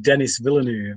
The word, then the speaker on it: Denis Villeneuve: of correcting me it's just like whatever spell denis villeneuve is a fee in there vill here then